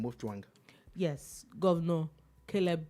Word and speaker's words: Mutfwang: Please, am I sure I pronounced that? Yeah, nice name, Mutfwang. Yes, Governor Caleb Mutfwang of PDP.